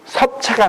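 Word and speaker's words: 葉: 그 섭자가 잎사귀 엽자인데 요새 전부 사학자들도 이걸 엽이라고 읽어. 그건 한자 자전으로 읽는 거지. 근데 논어에서 반드시 인명을 쓸 때에는 특수성으로 그거는 섭이라고 그랬어요. 논어에 섭공이 나와요. 엽자인데 섭이라고 불러.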